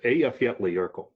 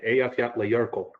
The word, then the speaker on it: Eyjafjallajökull: So it's Eyjafjallajökull. That again is E15 for all you military folks. They didn't even want to pronounce it. So again, Eyjafjallajökull, but again, that's actually the name of the